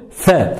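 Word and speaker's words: ف: Alors pour la prononcer, il faut prendre l'extrémité de la langue et venir la poser sur l'extrémité, ici, des incisives supérieures.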